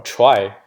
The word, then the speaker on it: trie: guess but you know people who don't pronounce it as a tree because you will be confusing whether it's a tree like doing me actually a tree or prefix tree so normally we just pronounce little try anyways minor details so